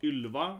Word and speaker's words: Ylva: So pronounce Ylva, right?